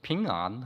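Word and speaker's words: 平安: 중국 사람들은 그래서 핑안 하고 발음하더군요.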